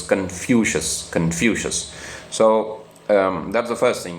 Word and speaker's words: Confucius: I mean, normally we say Confucius, but I checked the pronunciation, so it's Confucius.